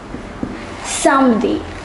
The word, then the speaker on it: samedi: Yes, it is samedi. And finally, what do we say for Sunday? It is dimanche. The pronunciation is a little different.